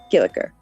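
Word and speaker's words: Giljagaur: Yes, Gilligur. That would be closer to the Icelandic pronunciation, Gilligur, or Gulliguck.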